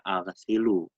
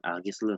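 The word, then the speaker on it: أغسل: Nomor satu dibacanya aghsilu, bukan aghislu, salah.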